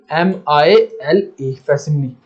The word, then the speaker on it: facsimile: फैसिमिली, फैसिमिली का मतलब क्या होगा, स्पेलिंग देख लो इसके, FACSIMILE, फैसिमिली।